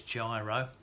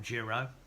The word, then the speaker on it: Jiro: year um so that variety was gyro or jro depending how you pronounce it and um I